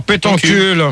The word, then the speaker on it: Pétoncule: Alors, pétoncule. Mademoiselle Pétoncule, comme ça se prononce.